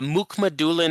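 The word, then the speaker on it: Mukhamadullin: not much to speak of uh it's uh Muk Mulan I learned as how to say his name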